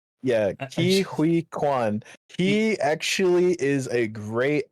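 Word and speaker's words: Huy Quan: Hui Kwan. Yeah, Hui Kwan.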